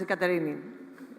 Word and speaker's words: Katerini: That is Katerini, the correct pronunciation.